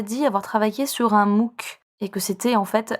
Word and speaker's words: MOOC: s'il te plaît et je précise que mou c'est un acronyme qui s'écrit m2oc mou ça veut dire massive open online courses oui c'est c'est anglais